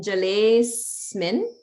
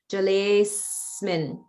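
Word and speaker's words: जलेऽस्मिन्: And then also in jalesmin, if we pronounce it like that, there's holding on the is, jalesmin. Sometimes people will break the words apart, which is fine, like jale asmin, because originally that word is asmin.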